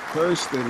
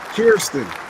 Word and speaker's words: Kierstin: That I and that E says ear. That is Kierstin.